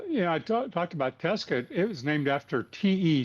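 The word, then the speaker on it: Tescott: Well, you know, I talked about Tescuit. It was named after te Scott and they pronounce it Tescuit.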